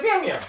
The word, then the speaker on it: Mjolnir: I Mitch said, Jolner. That's what I said. Thor's Yeah, hammer. yeah. Thor's hammer. That's Actually, what I said she- in my Why head. is the J silent? She pronounced it the way Chrissy pronounces Mjolnir. She says Mjolnir.